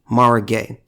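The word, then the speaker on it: Mara Gay: eye if I remember quickly her name is pronounced Maura Maura gay and she's a New York Times editorial board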